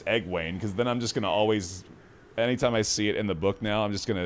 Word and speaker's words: Egwene: According to Reddit, it's Egwene, so we can all trust that. Which I love that, if it's Egwene, because then I'm just going to always...